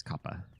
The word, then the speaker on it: Kappa: from the trickster Kappa from Japanese Kappa would be the proper pronunciation um let me catch